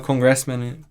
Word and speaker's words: congressman: Então é muito difícil, em vez de a gente falar congressman, de falar congressman, o que é a pronúncia certa.